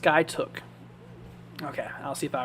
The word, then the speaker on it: Skiatook: It's pronounced Skytook.